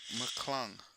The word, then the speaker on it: McClung: y'all learning this is where I learned Matt McClung Oh, clung. Matt McClung.